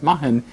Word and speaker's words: Mahon: is the way you spell it but it's Mahan the pronunciation I get that right you got it